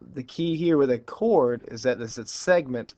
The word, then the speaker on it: chord: guys see is a chord it's not CH it's actually pronounced a chord uh but the key